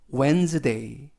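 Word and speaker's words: Wednesday: 뜻은 화요일 이라는 뜻이구요 w 는 9 그리고 알파벳 e na 에 그리고 뒤는 이번 단어에서 는 발음하지 않습니다 그리고 애는 늘 그리고 이 역시 이번 단어에서 는 발음하지 않습니다 s 는 즉 그리고 메이 그래서 웬즈데이 웬 스 데이 라고 발음합니다 뜻은 수요일 이라는 뜻이고요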